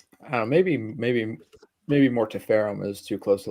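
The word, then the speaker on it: Mortiferum: Mortifum. I still can't believe that's how they pronounce that. It should be mortifam. That sounds way more sinister, but that's whatever.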